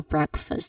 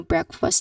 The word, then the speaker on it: breakfast: So here the common mistake that people do is pronouncing it as a two distinct word like breakfast again breakfast. Breakfast break this one we pronounce it as break right and then this is fast.